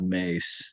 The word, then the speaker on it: Maas: looks like it should be Maas, but it's actually pronounced Mace. Like Mace. Mace, like Ooh. the stuff cops spray on bad guys.